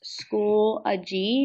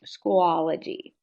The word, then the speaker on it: Schoology: uh opinion there and it is pronounced School ay not schoology just as an FYI